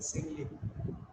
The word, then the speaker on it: simile: that is called a simile. Once again, repeat the word simile. Simile. S-I-M-I-L-E. Simile. Don't make it smile. All right. Look at the spelling and pronounce it correctly.